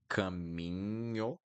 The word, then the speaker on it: caminho: So, caminho, caminho, caminho. Caminho is the way, the path. Sozinho, sozinho, sozinho. And then, oops, sozinho. Okay? So NH will always sound like niño in Spanish, always.